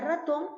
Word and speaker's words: ratón: lleva tilde y efectivamente la palabra ratón lleva tilde por qué porque es una palabra aguda que tiene la mayor fuerza de voz en la última sílaba y que lleva tilde